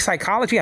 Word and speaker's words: psychology: But the P is silent. I think psychology, I'm a bad speller.